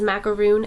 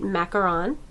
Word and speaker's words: macaron: this is mint macaron now you're going to hear this pronounced as macaroon as well but I'm going to call it mint macaron the next one here